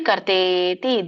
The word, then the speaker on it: ಕರ್ತೇತಿ: ಕರ್ಮಚೋದನ ಕರಣಂ ಕರ್ಮ ಕರ್ತೇತಿ ಕರ್ತೇತಿ ಕರ್ತಾ ಇತಿ ಅಂತ ಕರೀತಾರೆ ಅದಕ್ಕೆ ಕೂಡಿ ಕರ್ತೇತಿ ದೀರ್ಘ ಇದೆ ಹಗೆತ ಕೆ ಕರ್ತೇತಿ ತ್ರಿವಿಧ